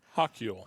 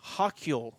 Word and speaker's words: Hochul: It's like Hochul. Hochul. That's what I was going to say in There you go. a not at all kind of way. That's Governor Hochul.